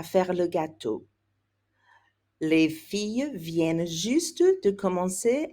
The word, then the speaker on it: viennent: You want to make sure you get that hard N sound in there when it's plural. Plural, third person. Les filles viennent de commencer à faire le gâteau. Les filles viennent juste de commencer à faire le gâteau.